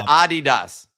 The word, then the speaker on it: Adidas: he over there anyways people are pushing back on your pronunciation of Adidas which I agree with um it's Adidas oh that's tough man uh that's that's the correct way to say itas that's a tough